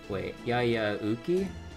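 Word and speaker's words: Yayauhqui: Yaya Uki? Oh, so that pronounces a U sound?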